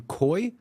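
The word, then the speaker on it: Cuy: His name is, I believe you pronounce his name Coy, C-U-Y, Sheffield.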